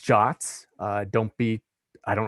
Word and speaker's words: JWT: of the presentation so json web tokens are pronounced jots uh don't be i